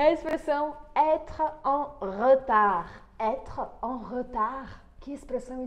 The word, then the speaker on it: retard: Quando a gente fala a palavra retard, rapidamente esse E do meio acaba desaparecendo. E eu falo retard.